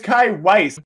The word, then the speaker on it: Kai Weiss: Why does nobody pronounce my name correctly? It's Kai Weiss.